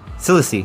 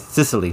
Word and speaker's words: Sicily: in Cissy sorry if I'm saying that wrong apolog you guys Sicily sorry that's how you say it he shot one guy